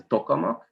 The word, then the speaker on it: tokamak: it one is a tokamak it's a it's a soviet invention from the 60s well at least as i pronounce it as a hungarian and and the other